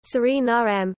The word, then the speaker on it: Suriname: In Dutch, the official language of Suriname, the pronunciation is Surinaam, with the main stress on the third syllable and a schwa terminal vowel.